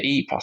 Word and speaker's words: Ypres: We used to go near Ypres. I think is it Ypres you pronounce it?